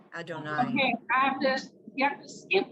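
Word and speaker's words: יהוה: Don't ever pronounce Yud Hey Vav Hey any other way. Yud Hey Vav Hey, always say Adonai.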